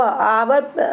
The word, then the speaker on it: hour: Hour, pronunciation of hour is a.